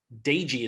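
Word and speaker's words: Doege: this name right jared daigy daigy is how you pronounce it he's a quarterback how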